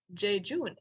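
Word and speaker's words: jejune: That is how you pronounce it. Jejun.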